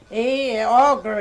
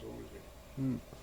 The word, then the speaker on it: Auger: Auger, it's supposed to be Auger, but they say it Osey. I guess long time people they just Mm-hmm. pronounce their names the way they are. Yeah. Supposed to be In Auger. English, if you ever saw it, you'd say auger, but it's Ozzy.